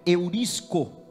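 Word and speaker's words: εὑρίσκω: A pronúncia dela é eurisco. Eurisco é com H.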